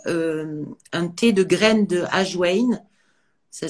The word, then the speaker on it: ajwain: Alors, tout simplement, on commence par les papilles dans la bouche, et par exemple, on peut boire un thé de graines de ajwain. Ça s'écrit A-J-W-A-I-N.